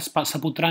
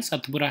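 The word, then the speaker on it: सतपुड़ा: तो पार आपको पता है नदी नासिक से निकलती है, तापी नदी सतपुरा रेंज से निकलती है, ये यहाँ पर स्पेलिंग मिस्टेक है, सपुत्रा नहीं है सतपुरा है, ठीक है।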